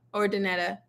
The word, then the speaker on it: Urdaneta: you've ever been to Urdaneta or how do you say it? Urdineta? Ordaneta. Urdaneta.